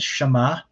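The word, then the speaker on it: שמע: okay and of course we would pronounce this as shama and this basic root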